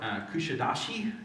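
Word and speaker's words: Kuşadası: Went to this port, Kushadashi is how you pronounce that.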